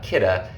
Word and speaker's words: Kidde: It sounds like kitty, but it's actually Kidde.